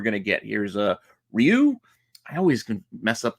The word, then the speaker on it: Ryu: of how you pronounce R Yu but I think it's Ryu R rayu I used to always say rayu when as a kid point